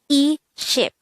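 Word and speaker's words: 이십: The Sino-Korean translation of this is e ship. E means 2 and ship is 10, so that would be the same as saying 2 sets of 10, and that is equal to 20.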